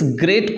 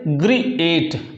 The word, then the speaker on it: great: अब जरा देखिए इस ग्रेट को आप कैसे पढ़ते हैं। अब आप ऐसे तो नहीं पढ़ते ना, इसको ऐसे तो प्रोनाउंस नहीं करते। ग्रीएट, आप ग्रीएट ऐसा तो नहीं इसको बोलते, कैसा बोलते हैं, ग्रेट, ग्रेट, आप ऐसे बोलते हैं।